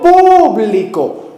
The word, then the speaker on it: público: que hace un funcionario público, con acento en la U, público.